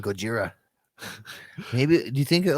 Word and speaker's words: Gojira: godzilla yeah i mean gojira is like i think how it was initially like pronounced okay so you watch